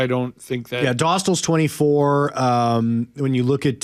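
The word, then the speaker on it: Dostál: But Duxell and net there. Is that how you say it? Dostal.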